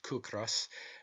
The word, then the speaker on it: ciocras: Such, for instance, are the Irish words ciocras, pronounced kukras, meaning hunger, and the word kis, pronounced kis, meaning rent.